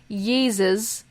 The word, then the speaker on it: Yeezus: It's important to note here that the third track off of West's 2013 album, entitled Yeezus, rhymes with, I don't know, cheeses? Very good, Kendra. Or Jesus, was called, so his third track on Yeezus was called, unironically, I Am a God.